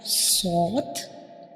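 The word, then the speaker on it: ص: And also when we pronounce sword, we will touch the tip of tongue to the hard palate.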